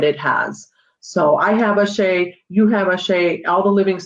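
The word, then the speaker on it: àṣẹ: So you mentioned the word, is it O'Shea? Ashe? Ashe, yeah, Ashe, or it's spelled ASHE with a schwa over the E, or ASE, both ways.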